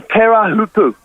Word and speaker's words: Teahupo'o: It's a Teahupo'o is how we pronounce it.